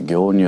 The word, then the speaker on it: 行入: 乳ですね、行いから入ると書いて業乳と読みますけれども、